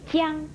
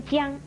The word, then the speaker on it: 将: 醒您的是它有三种读音。第一是念姜，一声姜，是当动